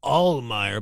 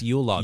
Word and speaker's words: Uhlemeyer: I said Jeff Uhlemeyer, but no, he's the Christmas king. It's Uhlemeyer. Yuletide.